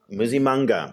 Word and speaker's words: Msimanga: Pretoria's mayor, Solly Msimanga, tell me how to pronounce it properly. Msimanga, okay, I completely missed that one.